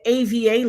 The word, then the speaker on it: AVA: the 1-800 line is the AVA law law firm as in Ava, the missing little girl.